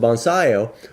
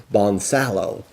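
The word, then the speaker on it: Bonsallo: a double l o the double l sound of course in spanish with the y seven it comes to y so they pronounce it bonsaio whereas the anglers the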